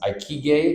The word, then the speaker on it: ikigai: Obviously, you got to have an how do you pronounce it? Ikigai.